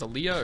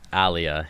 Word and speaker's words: Alia: Did you say her name was Aaliyah or? Alia, yeah. Alia, I'm pretty sure there